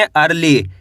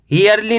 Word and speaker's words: early: EARLY, इसे पढ़ेंगे अर्ली। क्या पढ़ेंगे? अर्ली। ईयरली नहीं पढ़ना आपको, कैसे पढ़ेंगे? अर्ली।